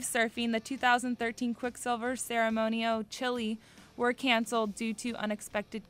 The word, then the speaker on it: Chile: But it's Chile. It's not chili, like chili you'd eat from a bowl.